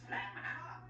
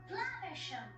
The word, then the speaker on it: Flaversham: Yeah, there's a running joke about Basil mispronouncing the last name Flaversham. Mm-hmm. Flamhammer. Flaversham. Whatever. Miss Flanchester. Flaversham. Whatever. Miss Flamhanger. Whatever. Which I guess is cute, except for the fact that he clearly pronounces it correctly later.